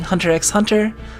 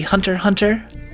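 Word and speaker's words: Hunter × Hunter: short is the the the japanese like to use x's as silent in words and they have their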